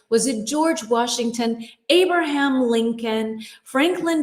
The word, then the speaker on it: Lincoln: The L in Lincoln, the second L, is silent. Lincoln. Lincoln.